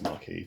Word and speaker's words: Maquis: It's Maquis, but some people say it wrong.